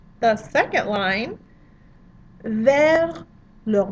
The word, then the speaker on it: vers: So you notice the S in ver, don't pronounce it because we're careful.